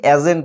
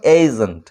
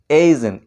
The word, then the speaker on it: agent: এই শব্দটির উচ্চারণ আমরা অনেকে ভুল করে থাকি, এজেন্ট বলি, এর মতো সাউন্ড করি, কিন্তু অ্যাকচুয়ালি এটার উচ্চারণ হলো এজেন্ট, এজেন্ট, এই এর মতো সাউন্ড পাই।